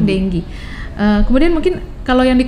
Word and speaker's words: dengue: demam tinggi dulu ya Demam dengue bacanya bukan Dengok ya bukan juga ding uh tapi Demam dengue kemudian mungkin kalau yang